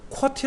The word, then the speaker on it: QWERTY: 있고 qwerty 있잖아요 그래서 qwerty 를 쿼티 라고 읽어야 콩글리쉬 기록에서 쿼티 자판 배열이